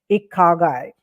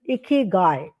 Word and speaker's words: ikigai: But what I liked a lot is when she talked about this Japanese concept called ikagai. No, it is ikigai, if I'm correctly pronouncing it.